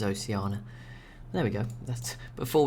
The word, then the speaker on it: Oceania: civilization five oceana game i'm still not sure how to pronounce that i'm gonna stick with oceana could be wrong i think i used to say like oceania and that's when people moan so maybe maybe it's oceana there we go that's